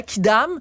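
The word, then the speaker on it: quidam: La kidam, vous regarderez dans le dictionnaire, là, voir ce que ça s'écrit Q-U-I-D-A-M.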